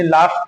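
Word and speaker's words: laugh: पहले ये देख, इसको हम क्या पहला कायदा था, जब किसी शब्द के अंत में यू जी एच हो तो हमारा ये यू लेटर हमारा साइलेंट हो जाएगा। अब हम लोआफ नहीं बल्कि लाफ पढ़ेंगे।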